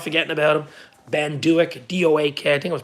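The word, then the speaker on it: Doak: Like how everyone forgets about Ben Duick.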